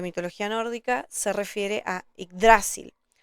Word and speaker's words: Yggdrasil: En esta versión está con el acento en dra, por eso me van a escuchar decir Yggdrasil, aunque a veces se me chispotea y digo Yggdrasil. En fin, pongan el acento donde más les guste.